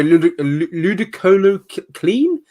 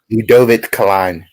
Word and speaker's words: Ludovic Klein: If you look at Shane Young in his last fight, he got finished by Ludicolo Clean? Ludovic Klein. Ludovic Klein. Nice. That's a great pronunciation. Much better than mine.